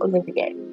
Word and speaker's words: Olivier: I keep trying to pronounce it the French way, which would be Olivier. And I'm pretty sure that that's what they had in mind.